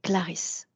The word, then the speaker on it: Clarisse: Avec, Clarissa, je prononce bien son prénom? Et pas de A, c'est Clarisse.